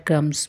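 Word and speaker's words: crumb: का चूरा अक्सर हम ब्रेड क्रम लफ्स बोलते हैं वो इसमें बी जो है वो साइलेंट है प्रोनंसिएशन इज ब्रेड क्रम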